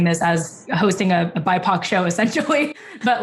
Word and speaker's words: BIPOC: I can't even like, I mean, clearly I've already pronounced it wrong too, but I thought it was BIPOC. No, it is BIPOC.